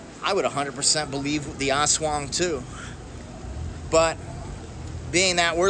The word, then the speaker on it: aswang: It looks like it's spelled aswang, but aswang, I think it's pronounced.